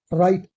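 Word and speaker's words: right: राइट, मैंने इससे पहले बताया था, टी से पहले जी एच साइलेंट रहता है, इससे पहले की वीडियोस देख लीजिए।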